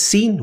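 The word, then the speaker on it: س: From the sound of it, you can already guess that it is the s sound like in the word sir. Sir sir, it is very similar to it.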